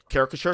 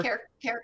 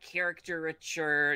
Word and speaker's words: caricature: For the longest time, I couldn't pronounce that. Ruben, where are you from in Michigan? Character. Yes. Character, and then the etcher puts on. It's like caricature. And no, it's caricature.